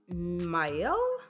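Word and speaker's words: Miele: right back okay so i think it's pronounced mile it's m-i-e-l-e this is from the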